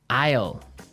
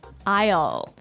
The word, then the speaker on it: aisle: Aisle. Aisle. A-I-S-L-E. Aisle. Aisle. It's a tricky word. It sounds like the contraction of I will.